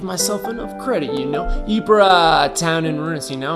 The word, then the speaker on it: Ypres: Ypres, town in ruins. See, now I'm not afraid to say it. Dubbed Wipers by British troops due to its difficult pronunciation.